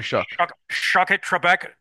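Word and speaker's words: Shough: You know, Tyler Shuck, is that how you pronounce it? Yeah, Tyler Shuck.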